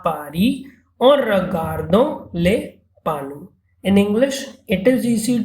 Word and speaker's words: panneaux: and its plural becomes signs, that is panu. Pronunciation remains the same, PANNEAUX, and we use definite article plural, that is lay in front of you.